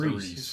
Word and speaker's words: Aries: Yeah, it's pronounced Aries.